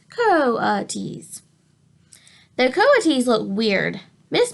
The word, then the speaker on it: coatis: Brisbane said reading from the letter pronounced Co T's the coatis look weird